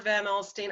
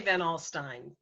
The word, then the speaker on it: Van Alstyne: You know, Van Alstyne or Van Alstyne. I say Van Alstyne, but Okay. people in upstate New York pronounce it in different ways.